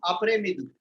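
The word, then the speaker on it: après-midi: Bon après midi. S is not pronounced.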